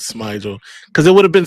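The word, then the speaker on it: Smigiel: out for sure that is it pronounced Smigel? Yeah, it's Smigel. Somebody was on. We had like one of the offensive linemen on, who is obviously in contact with them. But yeah, he said it was Smigel because it would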